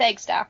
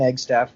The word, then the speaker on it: Eggstaff: pronounce that right its egg stuff right yes it's egg Steph just it's spelled exactly how it sounds good I figured I'd